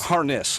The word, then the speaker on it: Harness: rhymes with bazarnis it's harness harness like you put on a horse yeah we get it